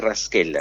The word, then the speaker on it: Raschella: ahora es increíble adiós en realidad se pronuncia rasquela exactamente doctor Qué es